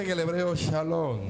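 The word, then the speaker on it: שלום: mujer en actitud de alabanza más se pronuncia en el hebreo shalom y es una palabra hebrea que significa pasco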